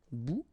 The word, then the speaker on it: bout: Remember, final T not pronounced. Un bout.